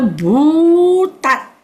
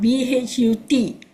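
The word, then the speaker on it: bhūtatthi: Ye ke chi pana bhutati. BHU, one syllable. TAT, another syllable. Third syllable, THI. So it's not BHUT. It's BHU.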